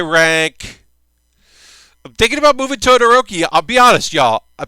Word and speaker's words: Todoroki: I'm thinking about moving Todoroki I'll be honest y'all I'm thinking of moving my boy up took yummy I said Totoro key we both know it's not Totoro key I said his name